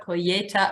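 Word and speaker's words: colheita: we were talking about coyetta earlier so pretend the H is a y when you're pronouncing it and again as I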